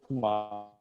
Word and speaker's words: Brahma: B-R-A-H-M-A. Okay. B-R-A-H-M-A. So you pronounce it B-R-A-H-M-A, yeah.